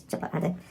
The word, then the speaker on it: chipotle: then she's like oh we don't stress the pee as much i'm like i'm so sorry and she's like oh that's don't worry i mean my own family doesn't even pronounce the same but yeah it's chipotle chipotles might as well and